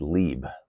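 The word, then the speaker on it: לֵב: well that word heart is the Hebrew word pronounced Lieb it's man's inner immaterial nature it's the representation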